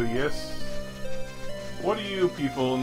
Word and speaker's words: Ys: I say it yeast. Like pronouncing the Y sort of like an E sound, like east. But I've also heard people call it wise, which could also work as a sort of fantasy spin on the word wise. There's also yes.